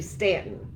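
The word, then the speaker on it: Staunton: and um starting stanton actually stanton if you want to say it the correct way although it's spelled with a u doesn't matter cross a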